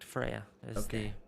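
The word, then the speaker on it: Freja: is an apple okay so f-r-e-j-a that's correct freya this is the pronunciation uh last name would be hasselblad i'm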